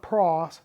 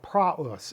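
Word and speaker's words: πραΰς: of the week is uh praus not PR not Pros but prus and in in a in the next slide I'm going to show you why we're pronouncing it that way it's an adjective it's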